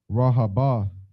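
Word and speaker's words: Rehoboth: And Samlah died, and Saul of Rahabah, you said it right.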